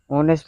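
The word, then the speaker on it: honest: अब ऑनेस्ट का पहला अक्षर क्या है? एच है। एच जो है कंसोनेंट है। लेकिन एच को यहां पर साइलेंट किया गया है। सिर्फ ऑनेस्ट बोला जाता है।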